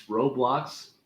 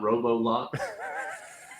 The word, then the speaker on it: Roblox: I do know that there is no o between the B and the L in Roblox are you messing with my pronunciation no just saying it's Roblox not robo-lock you say whatever you